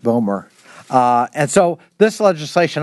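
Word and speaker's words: BOEMRE: management regulation and enforcement uh pronounced buer uh and so this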